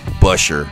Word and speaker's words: Buescher: him to drive it I know I didn't pronounce at how NASCAR pronounces it but that's the German way to pronounce it so we'll go back to the boring NASCAR way of the 24 car